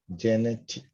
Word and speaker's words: genetic: number two genetic genetic genetic yeah the because the underlined part is the stress of the earth genetic